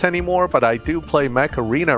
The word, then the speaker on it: Mech Arena: but I do play Mech Arena right now, so... Hey! It's like you said the cartoon version of War Robots. He said it right this time. I'm disappointed. Mech Arena! Usually he says Macarena.